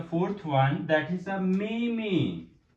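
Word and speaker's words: 妹妹: Then I'm going to write the fourth one, that is a meme. It's mean younger sister. Meme. I'm going to write the pronunciation meme.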